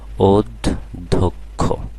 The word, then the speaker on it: অধ্যক্ষ: বছরে আসছিল তো দেখো এখানে প্রথমে অ আছে এরপরে জ ফল আছে সুতরাং অ এর উচ্চারণ আর অ থাকবে না ও এর মত হয়ে যাবে অধ্যক্ষ হ্যাঁ তাহলে এখানে অ এর উচ্চারণ ও হয়ে গেল অধ্যক্ষ এরপরে দেখো গ এর